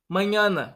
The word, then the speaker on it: mañana: Então sempre que você vê esse N, você vai pronunciar como se tivesse um NH.